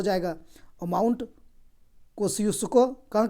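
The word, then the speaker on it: Kosciuszko: कोस्यूस्को इसका उच्चारण होता है।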